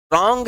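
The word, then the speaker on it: wrong: अगर आप ध्यान से देखो तो नॉक एक ऐसा शब्द है जिसमें के साइलेंट, रॉन्ग एक ऐसा शब्द है जिसमें डब्लू साइलेंट, साइकोलॉजी एक ऐसा शब्द है जिसमें पी साइलेंट, लेकिन फास्ट शब्द में कोई साइलेंट।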